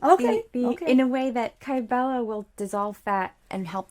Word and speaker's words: Kybella: here and I can push it all right Sybilla am i pronouncing that correctly what is that kybella is it's a it's actually an injection the